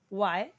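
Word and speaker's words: why: को कैसे बोलना है अब बहुत लोग इसे ना व्हाय बोलते हैं कि यह एच ह है लेकिन यह एच ना साइलेंट रहता है अब जैसे बहुत सारे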